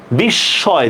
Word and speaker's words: বিস্ময়: শব্দের মাঝে মফলা যুক্ত হলে দ্বিত্ব হয়, দেখছেন? বিস্ময়, দেখছেন?